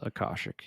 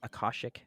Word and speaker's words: akashic: do you what do you call it the acostic records is that how you pronounce it yes akashik yeah akashik is that people that believe that you can